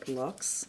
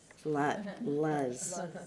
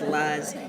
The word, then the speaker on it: Luz: Ilardo is Lux. Am I saying that correctly? No, you caught me. It rhymes with buzz. Does. Luz. Luz. I'm so sorry, but everybody now will remember that it's Luz and rhymes with buzz.